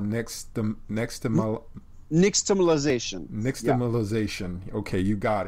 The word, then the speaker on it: nixtamalization: in your book called, and I can't even pronounce it, it's called nixtamalization.